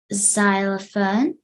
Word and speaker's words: xylophone: of hard to spell because some people think it starts with an Z but it actually starts with a x okay repeat after me xylophone xylophone vile effect if